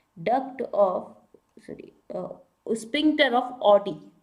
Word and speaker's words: Oddi: Of, sorry, sphincter of Audi. Audi से याद, ओडी, Audi गाड़ी से याद रखेंगे, हालांकि इसकी स्पेलिंग अलग होती है, ODDI, स्पिंक्टर ऑफ, स्पिंक्चर